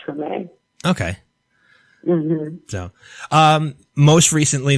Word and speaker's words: Treme: to pronounce it, but is it Trem? You would know better than me, obviously. It's Treme.